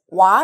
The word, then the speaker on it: は: 나와있는 요 골자는 요 하라고 읽기 도 하지만 와 라고 발음하기도 합니다 자아 라고 발음할 때는 뭐 뭐 은 몸 얻은 이라는 주격 조사로 사용할 때 요 그래서 오늘은 요 얘를 와 라고 발음하고 뭐 뭐